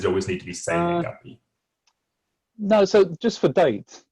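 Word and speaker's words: 生年月日: So is that a word in itself for date, or does it always need to be say nengapi?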